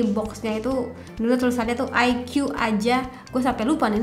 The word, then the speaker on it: iQOO: Penulisannya sih Iko OO gitu ya. Tapi bacanya bukan Iko, apalagi Iko Uwais tuh bukan banget. Tapi melainkan IQ.